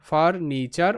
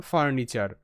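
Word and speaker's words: furniture: ফার এন আই নি টি ইউ আরই চার ফার্নিচার ফার্নিচার ফার্নিচার ওকে তো বাকি শব্দগুলো দেখো নেক্সট যে শব্দ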